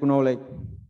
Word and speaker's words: knowledge: So, because my goal of working is just to seek knowledge. Is just to seek knowledge. Yes, sir. Knowledge, K-nya nggak dibaca. Knowledge, bacanya ya.